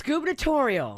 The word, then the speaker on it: gubernatorial: it's gubernatorial.